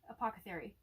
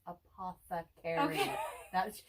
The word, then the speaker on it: apothecary: fairy apoca theory oh did i say it right the time say it again apoca theory you did yay because no no no you're saying it wrong in my head it was sounding right but no it's apothecary she says or maybe i